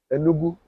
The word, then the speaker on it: Enugu: Or Enugu. Enugu. Yeah, Yeah, yeah, have yeah. I pronounced it Yeah, well? no, it's Enugu State.